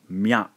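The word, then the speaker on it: みゃ: Again, the ya sound kicks out the e, ends up with mya, mya. Mi and you, combine these two syllables, we end up with mu, mu.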